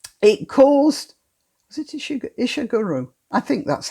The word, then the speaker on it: Ishiguro: Look, there's a book called The Remains of the Day by a writer called Ishiguro. It caused, was it Ishiguro? I think that's how it's pronounced.